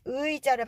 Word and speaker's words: 의자: 남도지방 분들께서는 의자 이 의자를 발음을 잘 못하셔서 그렇게 발음하시는 경우가 있는데 표준 발음은 자입니다. 그리고 여기서 자에서 지읒은 즈도 아니고 자도 아니에요. 지와 자의 중간 정도. 그래서 이 입술이 옆으로 벌어져 있어야 돼요.